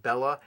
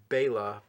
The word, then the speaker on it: Bela: in in that trap of saying Bella, but I believe it's wrong because I I have a lot of Hungarian fans who have sent me emails saying that I'm saying it wrong or whatever. And uh so I I believe it is Bela, but I am not Bela Lugosi.